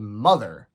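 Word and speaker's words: MOTHXR: not that long ago this is a band called mother but it's spelled m o t hxr you know like true hipsters do and the album is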